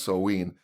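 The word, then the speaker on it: Samhain: actually spelled Si mhm I am but it's pronounced so ween the Druids worshiped the Sun God names like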